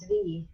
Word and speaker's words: Dvi: Dvi is the number 2. So and it's pronounced Dvi. Dvi, yeah, with the I, right? Because I is always E.